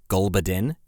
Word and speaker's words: Gulbuddin: that's totally fair it's a posh tune name gulbadin g u l bu u d d i